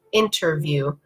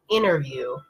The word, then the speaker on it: interview: usually do is actually just pronounce the N and not say the T so they'll kind of skip over the T and it will be